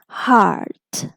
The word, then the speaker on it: heart: actually the r sound this e is just not being pronounced and the word is H art heart right so now overall we